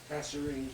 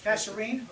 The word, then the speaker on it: Kasserine: The result of this is, at a place, I've never heard this word spoken, I may mispronounce it, the Kasserine Pass. Kasserine. Kasserine?